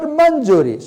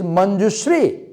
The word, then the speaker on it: Manjushri: She is not Manjuri, she is Manjushri. And the receptionist cannot pronounce Manjushri. She pronounces Manjuri.